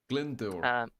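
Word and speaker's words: Glyndŵr: so save me for my awkwardness that is glendur glendor there you go yes exactly um owen glendor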